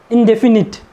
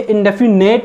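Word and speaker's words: indefinite: इंडेफिनिट, ये इंडेफिनेट नहीं है, इट इज़ इंडेफिनिट।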